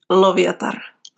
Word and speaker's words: Loviatar: Mielikki and Loviatar, the pronunciations.